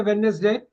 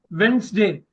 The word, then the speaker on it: Wednesday: On Wednesday, you should not say Wednesday. Tell this again. Wednesday. Can you say that? D is silent. Everyone look at it. Wednesday. D is silent.